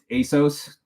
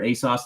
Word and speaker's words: ASOS: So the initial ones I bought through ASOS or ASOS, depending on how you say it.